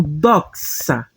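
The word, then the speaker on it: δόξα: ver, o xi, que ele vai ter um som como em tax. Tax representa o X, como você pode ver aqui. E temos aqui o alfa, que é o nosso A. Então, você vai pronunciar como doxa.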